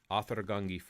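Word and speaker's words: áðr: uh that specialized character it looks like a d with a little hook at the top that's actually pronounced like a th that is an icelandic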